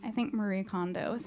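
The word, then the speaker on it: Marie Kondo: thinking about um the Mary condo that how you say her name I think Marie condo is how you say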